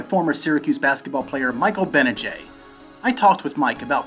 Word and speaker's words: Gbinije: syracuse basketball player michael benajay uh silent g how are you mike